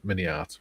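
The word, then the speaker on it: MiniArt: Forget to include perhaps the king of them all, Mini Art. Remember, Mini Art rhymes with multi-part.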